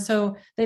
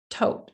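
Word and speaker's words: Thoth: hathor or hathor but it's more powerful and so they don't pronounce the h and even when you um people call it soth but it's tote so it's really interesting how just the words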